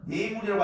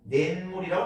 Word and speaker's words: 냇물: 하지만 발음은 뇌물이라고 하지 않고 냇물이라고 합니다. 냇물.